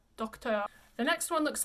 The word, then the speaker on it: Docteur: So Docteur, just stick your lips out, Docteur.